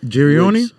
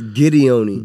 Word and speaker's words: Gideoni: Girioni? Girioni. It's Gideoni.